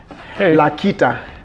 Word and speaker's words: Lakita: Arnold Lakita, am I spelling your name right? Not pronouncing your name right?